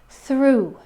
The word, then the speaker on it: through: The first pronunciation in the word through. Through. It's an oo sound at the end with a little w sound at the very, very end of that word.